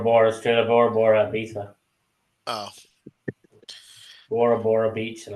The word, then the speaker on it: Ibiza: Americans pronounce it Ibiza, isn't it? Ibiza. It's Ibiza. A P Diddy photo or That's in Spain. Ibiza's in Spain. It is, yes. But it's Ibiza, Brad, not Ibiza.